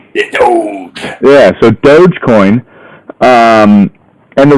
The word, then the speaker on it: Doge: Yeah, Doge.